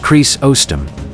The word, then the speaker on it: Chrysostom: Early church leaders, like John Chrysostom, pronounced Chris-ostom, and Augustine described this as straining out a gnat but swallowing a camel.